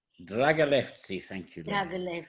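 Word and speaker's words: Драгалевци: Dragalevci. Dragalevci, thank you.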